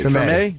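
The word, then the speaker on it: Treme: It's, how you pronounce it? Tremaine? Tremaine.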